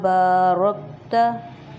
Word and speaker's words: بارکت: محمد وعلی آل محمد کما بارکت، را کو موٹا، رکت علی ابراہیم وعلی